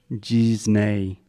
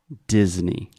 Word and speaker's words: Disney: First, this is a hard D at the beginning. So there's no J or G. It is D. Disney. Disney. Perfect. Secondly, the EY at the end. A lot of Brazilians have the tendency to say A, but this is E, just like E mais alguma coisa.